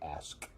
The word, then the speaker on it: ask: However, I recently noticed that when I say ask, I don't usually pronounce the K at all.